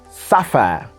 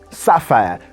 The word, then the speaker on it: sapphire: queen said this word sapphire sapphire that's a british standard pronunciation using the diphthong air at the end of the word sapphire sapphire okay so thank you